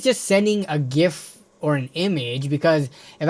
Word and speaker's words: GIF: It It is a GIF with a hard G. Not like the peanut butter gif because that was the correct way to say it.